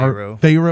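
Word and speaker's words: faro: They're playing like it's called like far pharaoh. Pharaoh. It's spelled like f a r o farro.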